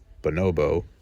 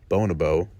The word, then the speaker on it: bonobo: There is the typical pronunciation that the majority pronounces it, bonobo. A second pronunciation that the minority pronounces it, Bonabo, and a third pronunciation